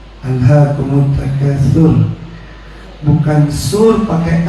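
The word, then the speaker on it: أَلْهَاكُمُ التَّكَاثُرُ: Alhakum tur itu Bapak Ibu bacanya pakai huruf tsa. Alhakumut takatur.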